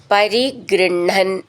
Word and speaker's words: പരിഗൃഹ്ണൻ: തേന, ദത്താം നീട്ടിയിട്ട് മുറുക്കം, നവരമണീം നീട്ടിയിട്ട് മുറുക്കം, വരമണീം ച ചേർത്തിട്ട് വരമണീഞ്ച, പരിഗൃഹ്ണൻ, ഇവിടെ ഉച്ചാരണം ശ്രദ്ധിച്ചോളൂ. പരിഗൃഹ്ണൻ, ഹ് എന്നാണ് എഴുതിയിട്ടുണ്ടാവുക, പക്ഷെ നമ്മൾ ഉച്ചരിക്കേണ്ട ണ ഹ എന്നാണ്.